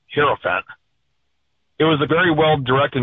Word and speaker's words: hierophant: The way the word hierophant is pronounced is he Heirophant.